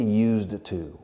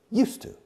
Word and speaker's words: used to: But we don't say used to. We say used to. Used to. The pronunciation is very fast.